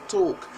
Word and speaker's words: talk: want to say talk remember the L is not really pronounced so it's talk and Americans would say